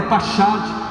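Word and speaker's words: פחד: E a primeira palavra é pachad. Não é essa a pronúncia, mas só para simplificar.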